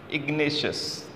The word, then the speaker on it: Ignatius: so ignatius is the name of a person ignatius ignatius see ignatius you can learn to pronounce ignatius was a manager of a cooperative